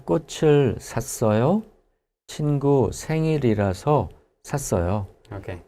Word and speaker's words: 꽃을: 왜 꽃을 샀어요? 친구 생일이라서 샀어요. Okay. 왜 꽃을 샀어요? 친구 생일이라서 샀어요. Okay. So in this case, we have 왜 again. Why? 꽃을 or 꽃을 꽃을 샀어요.